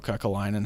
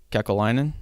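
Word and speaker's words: Kekäläinen: It's a really tough spot that Jarmo Kekalainen has right now. Jarmo who? Kekalainen.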